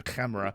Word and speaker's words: CAMERA: Camera, you say it correctly. You got to put the KH in Camera.